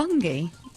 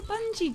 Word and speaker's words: Bungie: pronounce it have trademark you think it's going to be bungy there's no clue there that that's going to be a soft G where's the clue well like a bungee jump is about exactly